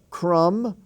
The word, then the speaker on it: crumb: you hear the bee crumb c aram c-u-r-m-b-crum but in the word crumble the bee is sounded crumble okay thumb he is